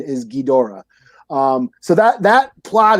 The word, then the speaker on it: Ghidorah: ghidra or ghidorah you know which it was ghidra all my life until like three years ago when i guess the correct pronunciation is ghidorah um so that that plot is from an